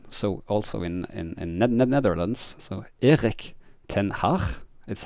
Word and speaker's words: Erik ten Hag: So Erik ten Hag is how it's almost pronounced in the Netherlands, which most British journalists and fan content people say Erik ten Hag, which is not correct pronunciations.